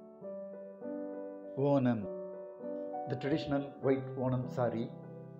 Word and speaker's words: Onam: this is how we pronounce the name wam wam wam the traditional white wam SAR pum or the